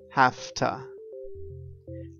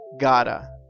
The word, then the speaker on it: have to: now we know that when we use have to one way to change the pronunciation is saying hafta i have to work tonight but an also very common way to say have to is gada we change the sound completely and we say gotta i gotta work tonight